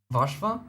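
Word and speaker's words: Warszawa: just uh say Warsaw uh to pronounce properly, you'd have to say like Vashva.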